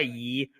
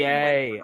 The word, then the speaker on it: Ye: But, you know, I will say though, honestly, if we're just going by Yee, I prefer the stuff the Chainsmokers have been making this year.